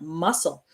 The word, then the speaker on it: muscle: The word muscle, we don't say muscle. The C is silent, muscle.